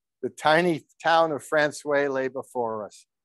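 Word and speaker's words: François: of boot laying our final stop was Francois pronounced Francois by the newfoundlanders a remote fishing out port with a population of 124.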